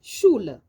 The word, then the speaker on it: Schule: Le SCH aussi se lit comme un Ch, comme dans die Schule.